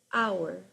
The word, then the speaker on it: hour: For example, in the case of the word our um it starts with a vowel sound.